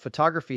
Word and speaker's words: photography: But photography has stress on the second syllable.